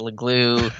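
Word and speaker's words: Leglue: left guard he's like my name's uh it's a legloo uh that's just kind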